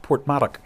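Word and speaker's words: Porthmadog: funny you know well i do know it's pronounced portmark yes sir that's the correct pronunciation so uh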